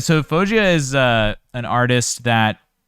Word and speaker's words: Faouzia: is crystal clear yeah i don't even know phosgea fao i'll spell it out f-a-o-u-z-i-a yeah there you go uh phogia so fojia is uh an artist that is an ed